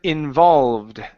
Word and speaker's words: involved: go to the word involved here this is an ed ending so instead of saying involved okay this e is silent it's involved involved good